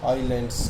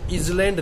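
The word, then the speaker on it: island: फिर बात आती है आइलैंड्स की। इसको इजलैंड नहीं बोला जाता, इट्स आइलैंड, एस साइलेंट होता है।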